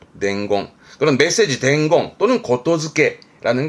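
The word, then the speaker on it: 言付け: 이때 발음은 고토즈케.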